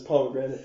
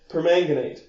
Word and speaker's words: permanganate: I'm sure some sort of numpty would have read that as pomegranate, which I am not. It sounded like you pronounced it pomegranate. I'm a little nasally, but permanganate.